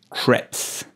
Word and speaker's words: crêpe: So, the E at the end, like most of the time in France, is silent. So, pronounce the P instead of the E.